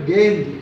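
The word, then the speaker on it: गेंद: இதன் உச்சரிப்பு கேந்தி. கேந்தி என்று உச்சரிக்க வேண்டும்.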